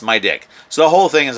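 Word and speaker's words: MIDIQ: and he names it the name is spelled m i d IQ and it's pronounced my dick so the whole thing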